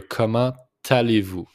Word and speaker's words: comment allez-vous: Just make the liaison here, comment allez-vous? It's the T with the A, so it's pronounced comment allez-vous aujourd'hui?